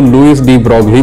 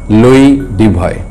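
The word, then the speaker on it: Louis de Broglie: आने वाले लुई डुबॉय, इनके नाम के अगर स्पेलिंग आप देखें तो कई लोग इसको लुईस डी ब्रोगली पढ़ सकते हैं। जब हम छोटे थे हम भी लुईस डी ब्रोगली ही पढ़ते थे, लेकिन फ्रेंच में इसका प्रोनाउंसिएशन है लुई डुबॉय।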